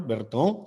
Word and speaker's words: Bertin: Y muy importante, estas indentaciones acá, que son llamadas columnas de Bertin, se escribe así en español, Berton, si usted quiere pronunciarlo en francés.